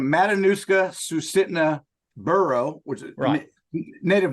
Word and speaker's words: Matanuska Susitna: Matanuska Sutitsa. I can't pronounce it, Chris. Where the heck are you? So the full name, Matanuska Susitna Borough, which is native names, but we just call it Matsu.